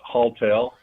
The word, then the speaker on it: Haultail: tell us about hall hall tale am i pronouncing it correctly sure it's hall tale as it sounds haultail is a on-demand